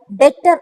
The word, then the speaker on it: debtor: doctor of mr x d e b t over but it will not call the bitter it's called letter b silent letter so mohan is the better of the business right